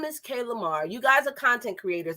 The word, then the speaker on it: Kaylamar: lamar come up and if i'm saying it wrong please correct me because you know i'm a new yorker you know i'll be saying everything wrong no you're saying it right so my name